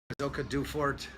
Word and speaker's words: Silke Duefert: I'm sitting here with Silke Duefert. I'm bad with, did I pronounce that right? That's right.